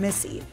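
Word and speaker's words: Misi: After the success of her first solo venture, Lilia, an Italian restaurant in Brooklyn, she recently opened Missy, pronounced like her name, but spelled differently.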